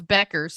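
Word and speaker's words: Bueckers: Pronounce Beckers. Ignore the U.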